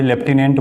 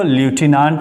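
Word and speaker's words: lieutenant: आई डी ईपी 120 इसको लेफ्टिनेंट नहीं पढ़ा जाता है बल्कि लेफ्टिनेंट बड़ा जाता है और यह कर्नल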